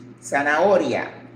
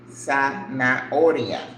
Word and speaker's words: zanahoria: All right, so we're gonna do carrot, zanahoria, zanahoria. Remember, Z in Spanish is pronounced like S. So it's Z-A-N-A-H-O-R-I-A, zanahoria.